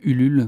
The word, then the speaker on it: Ulule: c'est sur Ulule, la plateforme qu'on appelle Ulule, donc ça s'écrit comme ça se prononce, U-L-U-L-E, Ulule, et il faut taper juste Alligator nouvel album, et vous tomberez sur la plateforme.